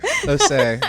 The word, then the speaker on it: Osei: Osei.